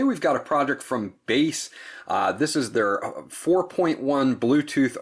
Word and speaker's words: Basse: And the product, the manufacturer is spelled B-A-S-S-E, so I'm saying Basse, and I hope that I am getting that right to them.